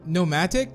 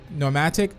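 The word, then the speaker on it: pneumatic: sniper the fomatic like nomatic so it's kind of like pneumonia like the the p is silent no nomatic needle rifle always end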